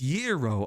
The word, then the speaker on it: gyros: Oh, it's yero.